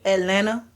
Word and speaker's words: Atlanta: I gotta say Atlanta. Oh, is that how they say it? There's no T. Yeah. Not at Atlanta. Yeah, it's Atlanta. Okay. No T's at all.